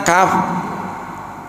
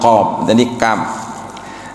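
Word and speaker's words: كاف: Sedangkan kaf kaf gitu kan bukan qf dari pangkal lidah. Jadi lidahnya di di sini kita merasakan ya kaf ya kaf gitu.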